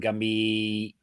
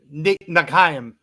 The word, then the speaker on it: Nghiem: Nghiem? Nghiem. Nghiem? Okay. That's definitely not it. No, Nghiem. Or is it like Win, where you don't say the G?